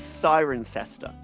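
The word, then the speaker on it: Cirencester: like half the word half the letters in the middle are not pronounced I'm going to say CER oh Chris you call it's siren sester siren sester okay that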